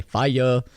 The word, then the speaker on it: Fiya: called club on fire however it's spelled f-i-y-a because you know you want to be cool and everything so you say fire so that's what it's